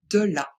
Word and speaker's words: de la: Ce n'est pas est, ce n'est pas et, c'est bien E. Donc on dit de la.